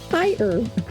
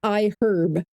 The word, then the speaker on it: iHerb: To this episode's partner, iHerb, or iHerb. UK people would pronounce it iHerb. Most Americans don't pronounce the H, but then it sounds weird as a website name, iHerb.